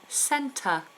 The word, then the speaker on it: centre: Emin, centre. Centre. Schwa ending.